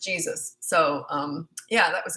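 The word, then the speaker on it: Jesús: from Mexico and uh called the poor guy Jesus but he was used to it it was of course Jesus and it's pronounced Jesus so um yeah that was embarrassing and I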